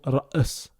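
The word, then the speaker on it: رأس: Par contre, avec la soukoun, il y a un arrêt brutal du son. Donc, comme si, voilà. Par exemple, dans le mot ra's, ra's. Vous voyez, il y a un arrêt brutal. Ra's.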